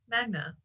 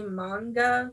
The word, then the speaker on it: manga: I learned a lot about, and I feel like I say it wrong every time, Magna. I think it's supposed to be manga.